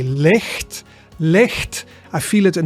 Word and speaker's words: licht: So the CH sound, so in the Dutch word licht, which means light, the sound is in there, right? Licht, licht.